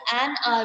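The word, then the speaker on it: hour: R नहीं होता बेटा, an R होता है, an R. ठीक है, आर में एन यूज होता है. Why? Because H is silent, तो हमारी अ की आवाज निकलती है, तो एन यूज होता है.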